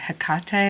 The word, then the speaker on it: Hecate: Let's talk about Hecate. You could say Hekate. It's spelled with a C or a K. She doesn't mind either way. So, Hecate is a Greek deity that she is well